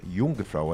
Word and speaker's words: Jungfrau: Por exemplo, acho que há mais de 2 décadas, os lugares mais elevados da Suíça, a região de Jungfrau, é assim que pronuncia, não permitia mais circulação de automóveis a combustão, poluentes, porque estava sujando a neve.